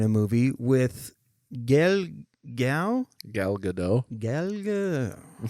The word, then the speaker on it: Gadot: Which those guys are in a movie with Gal Gal Gadot. I think it's Godot. I think you're right. Yeah. Yeah, I don't think she likes the Godot pronunciation.